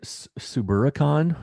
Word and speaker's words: Suburbicon: And Suburbicon, is that pronounced properly with Matt Damon?